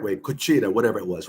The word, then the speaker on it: cuchara: So the white dude said, it's correct way, cuchara, whatever it was, right?